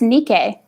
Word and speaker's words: Nike: that movie with heath ledger apparently this is pronounced nikkei yes really yeah i mean i thought it was nike yeah the american brand is nike americans okay